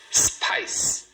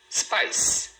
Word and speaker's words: spice: Spice, spice. 1 sílaba. Tudo isso para falar uma sílaba. Spice. Fala de uma vez. Spice.